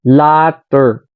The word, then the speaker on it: latter: constructive criticism siya So sabi niya latter so latter o ' ba ang pronounce hindi pareho sa later okay Oo pala no